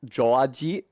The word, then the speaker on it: George: Also, everybody has to call George Georgie because the j, like the only syllable in Japanese that starts with j ends in e. So his name is just, no matter who's saying it, Georgie.